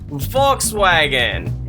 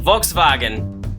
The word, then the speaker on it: Volkswagen: one is properly pronounced it's Volkswagen in regular English and then Volkswagen in German for Spock and boots